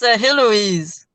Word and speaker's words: Heloise: It's Heloise.